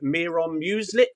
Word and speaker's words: Miron Muslic: the official Romano account has tweeted out, to Miron Muslic. Have I pronounced that right, guys?